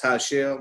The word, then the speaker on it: Tashelle: Is that Tashelle? That's how you pronounce that, Mrs. Lee? Yes. Tashelle Sanders.